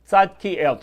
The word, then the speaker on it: Tzadkiel: Tzadkiel, 3 syllables.